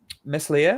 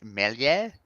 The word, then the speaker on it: Meslier: So goalkeepers, Ramsdale and Meslier. I'm going to say that wrong. I believe it's pronounced something different. Gilby, would you like to correct me? I think it's Melier.